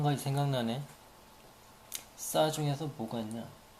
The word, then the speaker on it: 싸: 어떤 사람은 사라는 발음도 하는데 저는 싸라고 발음할 겁니다. 싸. 뭐 사라고 하든지 말든지 저는 그냥 싸라고 할 테니까요.